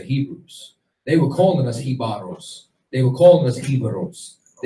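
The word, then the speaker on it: Jíbaro: for example, Hibaro, or Hibaro is the real pronunciation of it. That's what they called the Tainos who fled into the mountains in order to hide from the Spanish. Hibaro, if you go and you remove the J, you understand, which didn't even exist, it's Ibero.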